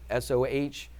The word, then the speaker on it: SOH: So it's SOH. Why did I write it like that? Just because I can say so. That's how I would pronounce it. SOH is so.